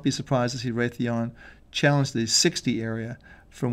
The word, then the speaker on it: Raytheon: RTN is the Raytheon, I should say. That's how you pronounce it.